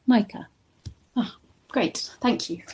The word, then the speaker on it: Micah: Ah, my name is pronounced like Michael but without the L at the end. Micah.